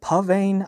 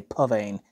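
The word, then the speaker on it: Psvane: 6sn 7 right here or is it pan I yeah it's spelled PS vean but I keep hearing people say pan anyway um these you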